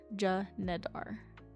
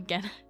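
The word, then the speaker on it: Genedar: Janadar Janadar Janadar Janedar, which makes more sense than Genar. Okay. Janadar. So they were saying the Janadar actually split.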